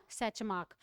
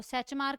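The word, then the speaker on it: Tschermak: का नाम लिखोगे वॉन सैच मार्क अब सैच मार्क की स्पेलिंग एस से नहीं है टी से है तो सबसे पहले तुम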